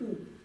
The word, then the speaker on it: དབུ: «да», потом идет «ба», любая гласная под ней будет читаться только гласная. То есть это будет читаться как «у». Должно читаться как либо «бу», либо «ву», как-то так. Но она читается как «у».